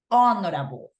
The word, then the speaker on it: honorable: gonna be using an because the way to pronounce this, it's honorable, honorable. And that is why it's correct to say honorable, okay?